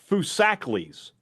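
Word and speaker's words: Foosackly's: Just a heads up, it's pronounced Fusakles.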